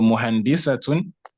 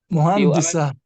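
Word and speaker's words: مهندسة: So muhandisatun, Arabs will pronounce it if they are pausing on it as what? Muhandis. Sorry? Muhandis. What will they do? Muhandis. Sukun. Muhandis. Muhandisa.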